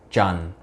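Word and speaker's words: Trần: last name tra n how you're supposed to pronounce it the Viet way is John that's right it's supposed to be Natalie Jung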